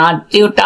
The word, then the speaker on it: আত্মীয়: কুকুর হ্যা তোমরা বলবে আত্মীয়টা বললেন না কেন আত্মীয়টা আসছি তার আগে আছে অন্ধ আমি যেমনি বললাম